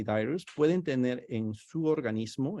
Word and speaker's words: dirus: Les había dicho que tuve un entrenamiento en Tailandia y, por ejemplo, ahí está Anopheles minimus, así se escribe, pero se pronuncia minimas, y el dirus, que es dirus.